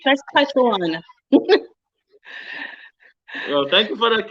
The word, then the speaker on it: Saskatchewan: Saskatchewan, not what you call it. It's Saskatchewan.